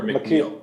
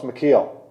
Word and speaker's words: McKeel: That's how you say it, McKeel or McNeil? No, it's McKeel. MCK.